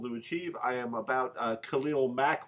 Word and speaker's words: Khalil Mack: I am about Khalil Mack, which rhymes with smack, and I expect him to put that on Luck.